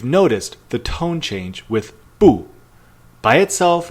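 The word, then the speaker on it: 不: the tone change with Boo by itself it's pronounced fourth tone but when it's followed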